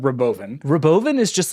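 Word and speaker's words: Robovan: bunch of other like sorry David it's pronounced Roven you think I'm joking listen to Elon pronounce it he says Roven it's the Roven yes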